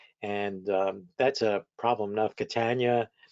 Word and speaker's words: Catania: that's a problem enough Catania well the simple way to spell that up is to say rhymes with Britannia and uh so I